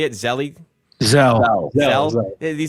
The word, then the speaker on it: Zelle: Is that how you say it, Zelle?